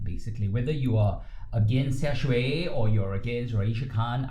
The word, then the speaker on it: Xiaxue: To be fair, I read what Xiaxue, is that how I pronounce her name? Xiaxue, yes.